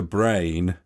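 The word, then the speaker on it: Breyn: Sahan Sloan and Dr Brain Dr I've already just read cuz it's spelled b r e y n and said it out loud and I'm just realized it's called do brain come into my room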